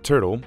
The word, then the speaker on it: TRTL: for your flight the trtl flask pronunciation turtle is an extension of